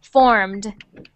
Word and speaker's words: formed: verb to form so when we add the ed on to that word we don't say ed we say just a little sound at the end like the d so formed good next one field